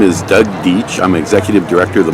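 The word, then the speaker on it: Deitch: That's spelled D-E-I-T-C-H. I'd like to get rid of an itch, as I was telling the State Water Resources Conservation Board a little over a year ago.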